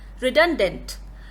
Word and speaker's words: redundant: And our last word for today's lesson is redundant, which is used as an adjective. Let me stress upon the pronunciation of this word, redundant. The starting sound is redone, which can act as a wonderful mnemonic.